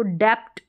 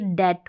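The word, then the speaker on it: debt: नहीं डाउट हो गया अब इसको डेप्ट डेप्ट पढ़ देते होंगे तो ये डेट होगा डेट यानी बी साइलेंट अब इसको सबटल पढ़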